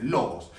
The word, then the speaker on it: logos: en el griego, porque en el Nuevo Testamento se escribe en griego, significa, bueno, la traducción literal es logos, así se dice, logos.